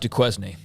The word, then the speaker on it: Duquesne: very tough first for five weeks uh it's pronounced Duquesne um God I really thought you were being